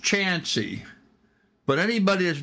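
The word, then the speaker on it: Chauncey: c h a u ncy and um it's pronounced chansy but anybody that's not from the area see how it's spelled they're going to call it Chanty c h a u NC y which is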